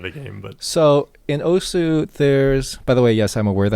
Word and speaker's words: osu: So in Osu, there's... By the way, yes, I'm aware that Osu is technically supposed to be pronounced Os.